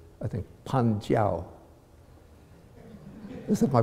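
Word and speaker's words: 判教: And so they worked out certain systems of interpretation that are called, I think, Panjiao. Is it my pronunciation all right? Okay. Panjiao, yeah.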